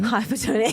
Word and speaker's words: hypotonia: which is hipotonia hypotonia oh is it still pronounced the same way hypotonia yeah wow really I know that is Total